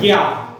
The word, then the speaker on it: ज्ञ: और ज्ञा, ज्ञा के लिए जी वाई ज्ञा। ये एक वास्तव में इसको पढ़ाया जाता है, इसका उच्चारण होता है ज्ञा, ज्ञा तो वाई ए, ठीक है।